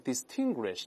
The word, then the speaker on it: distinguished: 这个得注意，在这个不要把它读成 distinguished 这个词要浊化，在后面声带震动一下，就原来那个 t 变成 d 的音。